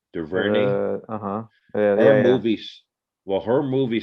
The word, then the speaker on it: DuVernay: I've always said that girl or that lady, not girl, Ava, I can't pronounce DuVernay. How do you say her last name? DuVernay.